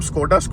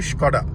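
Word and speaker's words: Škoda: तो हम स्कोडा करते हैं, इट इज़ एक्चुअली स्कोडा.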